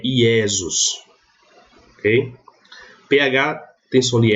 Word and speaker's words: Iesus: O J eu sempre pronuncio I. Então, se eu encontrar num texto latino essa palavra aqui, eu vou ler Iesus, não Jesus.